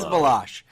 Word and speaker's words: Baloche: It is Baloche. I got yes, Baloche, and Anthony's not good with. I am the worst podcast host. Paul Baloche, who is an outstanding artist.